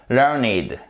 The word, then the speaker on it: learned: Et pour finir, parfois vous aurez learned, mais en adjectif, et ça signifie érudit, qui a appris, et ça se prononce par contre learned. On change la prononciation.